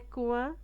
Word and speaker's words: coin: on va explorer les coins secrets de la forêt. on va explorer سوف نكتشف. explorer نكتشف les coins coin. O مع I مع N ouin ouin coin.